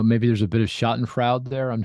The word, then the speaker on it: Schadenfreude: Yeah, I guess in China, I don't know, maybe there's a bit of Schadenfreude there. I'm not sure. Oh, good German word, right? Schadenfreude.